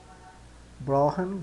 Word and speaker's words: brauchen: Então esse CH soa quase que como sendo um R, né? brauchen, Brauchen, brauchen, brauchen, tá? E o R é o R de carro.